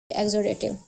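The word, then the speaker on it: exudative: Spelling मैं बता देती हूं। ई ई एक्स यू डी ए टी आई वी ई एग्जोडेटिव।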